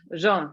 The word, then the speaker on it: Jean: You kind of you don't pronounce the N though, but it's fine, like everybody. Jean.